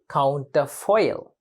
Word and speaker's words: counterfoil: 2 words. Counterfoil. But it is pronounced and used as one word.